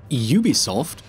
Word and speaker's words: Ubisoft: Ubisoft? That's how it's pronounced, right?